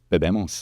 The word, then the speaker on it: bebemos: So what is it that you think differentiates your team, your approach, that's going to take bebemos? Did I say it right? Yeah, bebemos.